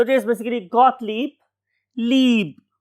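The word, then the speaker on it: Gottlieb: तो इट is basically गॉटलीब, leap, दो ये आएंगी इसमें, गॉटलीब।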